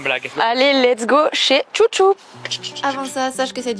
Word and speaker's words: Xuxu: sur Instagram qui s'appelle Chouchou. Alors ça s'écrit Xuxu, mais on a bien compris que les locaux ici, ils disaient Chouchou, c'est du basque.